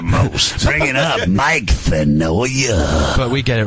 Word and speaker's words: Finoia: He gets in my face and he goes, "Yeah, Mike Finoa," and I go, "It's Finoia."